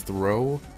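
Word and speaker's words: Throh: then I found out there's actually an r in there and that it's it's throw so I was wrong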